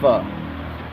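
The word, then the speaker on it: phở: And for all y'all Americans, they call it pho. It's pronounced pho. That's the soup with the noodles. Put chicken, they put fish in there, whatever. It's called pho. Pho. It's not pho. It's not like pho, like it looks.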